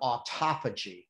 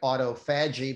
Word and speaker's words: autophagy: about a process called autophagy that looks like autophagy but autophagy is how they pronounce that and ultimately what